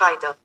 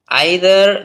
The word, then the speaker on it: either: in British English, and it is pronounced like either in American English. And Indians, most Telugu people, by mistake, they pronounce it like either, either, which is wrong pronunciation. So if you EITHER, if you say either, that is wrong. You need to say either or either.